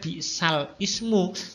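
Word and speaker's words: بئس الاسم: Bi'salismul bacanya, tulisannya bi'sal ismu tapi bacanya bi'salis, itu namanya nakol. Sekali lagi, memindahkan harokat hamzah kepada huruf lam yang sukun sebelumnya itu, setelah itu hamzahnya dibuang sehingga berbunyi bi'salis.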